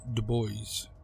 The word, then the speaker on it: Dubois: on the outskirts of a town called Dubois (Pronounced like Du-boice).